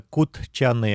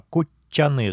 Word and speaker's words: кутчаны: Переход зубных тд в полотальное ч дж перед ч, например, кучаны обуть не произносится кутчаны, а кучаны с двумя ч, но кут лапать т на конце.